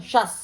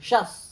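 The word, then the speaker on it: शस्: सु औ जस, अम आउट शस, शुद्ध उच्चारण शस। पहला तालव्य, दूसरा दंत्य, शस।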